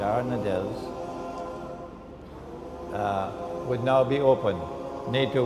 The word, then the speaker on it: Dardanelles: and the Straits of is it darn Adele Giada I pronounced it wrong the first time the Bosphorus and the Straits of the Dardanelles would now be open